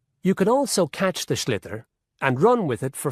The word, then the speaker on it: sliotar: this ball called a sliotar. That's s l i o t a r. So, it's not spelled the way it's pronounced.